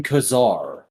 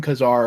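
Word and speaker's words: Ka-Zar: call him kazaar well i would imagine you should call him kazar because it's spelled k-a-z-a-r all i know is in the one thing i've ever listened to that refers to him it was pronounced k-czar you're both wrong that's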